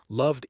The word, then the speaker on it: loved: Not called, one syllable, clean. The N sound, NNNNN, vibrates, cleaned, cleaned. Love, the V sound, VVVVV, vibrates. Loved equals loved.